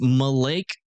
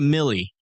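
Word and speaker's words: Mille Lacs: If that is lit really pronounced Malake or Malac Lake you done screwed up and spelling it. If it's French for a thousand lakes, then it has to be a millie millimeter. Are you kidding me? It's not max. Y'all got it wrong. I'm sorry. If it's French for a thousand lakes, it's Millie.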